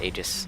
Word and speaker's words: Aegis: I believe the next item I go with, normally I would buy an Aegis, or is anything it's pronounced Aegis, an Aegis of the Legion, which would go